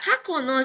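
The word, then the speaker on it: 過去: Tapi kalau ketemu sama kanji dibacanya ka kako.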